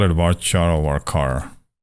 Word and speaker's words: varchar: telling you seriously that's the real way to pronounce at bar char okay and then you see us put the